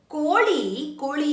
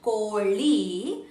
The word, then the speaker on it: ಕೋಳಿ: Koli is a hen. When you pronounce li, your li has to touch upper palate of your mouth. Koli, not Virat Kohli.